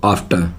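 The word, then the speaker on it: after: टी के लिए टे, और मैंने कहा था जो है ई आर को प्रोनाउंस नहीं किया जाता, तो बोलेंगे इसको आफ्टर।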